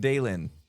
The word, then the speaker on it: Dalen: D It's like daily but Dalen.